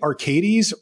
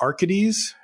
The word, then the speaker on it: Arcades: So this first one is, how do you say, Arcades or Arcades? I've traditionally said Arcades. Don't. Don't say Arcades. I believe it's Arcades, though, you know, I